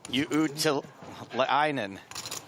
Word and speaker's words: Uutilainen: This is Uutilainen. Yeah, that's the correct pronunciation.